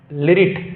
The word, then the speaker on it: लृट्: लिरिट लकार। तो ये है लिरिट लकार। कौन लकार? लिरिट। अच्छा सॉरी लिरिट। लिरिट यहां पर छूट गया। लिरिट।